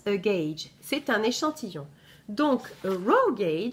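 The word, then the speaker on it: gauge: ça j'ai à huget eu mais ça se prononce guedj c'est un échantillon donc roguet jh c'est le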